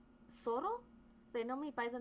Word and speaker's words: Zorro: Like everyone everyone says my name as Zoro. So I like I say it that way because everyone else reads it that way. But it's soro truly it's it's actually